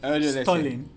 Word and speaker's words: Stuhrling: Pronounce that. Sorry. S-T-U-R... I won't embarrass myself. Stuhrling.